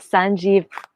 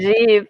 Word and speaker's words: Sanjeev: And then we have Sanjeev Bhanot. Did I pronounce that for me? Did I say that correctly? Sanjeev is good enough. Bhanot. Sanjeev, perfect. Thank you, Sanjeev.